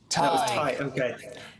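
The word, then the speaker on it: Tadhg: Tig is a funny one because it's Irish obviously as you'll know, but it's spelled T A D HG.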